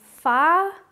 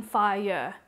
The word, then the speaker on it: fire: important to note that we're singing fire rather than fire it's one syllable not as two and here's the song